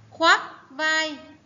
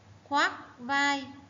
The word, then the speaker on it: khoác vai: khoác vai. Các em lưu ý tiếng khoác vần oác o a cờ oác đọc là khoác vai.